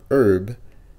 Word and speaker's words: herb: États-Unis, H là dans herb, li pas prononcé. Soit dit herb. C'est pas herb, mais c'est herb.